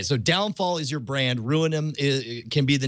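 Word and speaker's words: ruinam: it's ruinum r-u-i-n-a-m so it's pronounced uh you pronounce it ruin them but but it has the word ruin in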